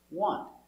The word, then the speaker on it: want: What do you want? NT before a consonant, the T is silent. Want. The tongue goes up a little bit, but you don't hear it.